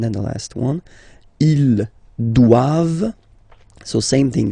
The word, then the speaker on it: doivent: And then the last one, ils doivent, so same thing, classic ending for the plural form, ENT here, okay, but then you don't pronounce it. Doivent, doivent, elles doivent, ils doivent, elles doivent.